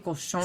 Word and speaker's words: Cochon: en México, el Pied du Cochon. Sí, no me tocó, pero sí supe Pronuncié que bien sí, cochon.